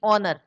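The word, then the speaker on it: honour: बात करेंगे article A एन द की, तो यहाँ सबसे पहले हम देखते हैं ओनर, यहाँ एच हमारा साइलेंट है, ओ एन ओ यू आर यानी कि ऑनर, तो एच साइलेंट होने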